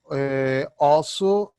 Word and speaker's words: osso: Mas a pronúncia mais era surda, osso. Este critério mantém-se no português moderno, ok? O S só é sonoro e duplo S é surdo.